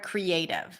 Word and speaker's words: creative: creative the word creative the a is the primary stress cre is a full vowel is a pure vowel so we treat it as a secondary stress creative and then the last syllable is unstressed probably usually reduced to awat creative same thing